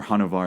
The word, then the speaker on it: Hanuvar: But regardless, The City of Marble and Blood is the second book in his Chronicles of Hanuvar series. It is or Hanuvar as he pronounces it.